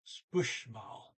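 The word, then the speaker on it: spørsmål: And this is spushmal. There's an RS in there. I didn't pronounce it correctly. Try it again. Spushmal. Should be a softer SH sound when the R and S are together like this.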